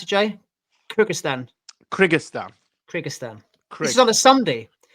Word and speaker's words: Kyrgyzstan: Lastly, staying in, how do you pronounce it, Jay? Kyrgyzstan.